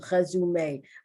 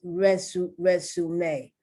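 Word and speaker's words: résumé: I'm used to pronouncing this resume, but it's not. That's the French pronunciation. It's resume. Once again, the E is accented and the pronunciation is A.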